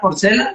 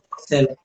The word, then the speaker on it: Borcella: Borcella, ahí se pronuncia como en italiano. Borcella.